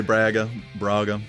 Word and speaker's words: Braga: some people say Braga. It's Braga's good.